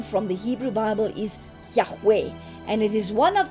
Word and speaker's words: Yahweh: of god in judaism jehovah is therefore a modern mispronunciation of the hebrew name yahweh which comes from the consonants of that name with the vowels of the word adonai which means lord and the jews substituted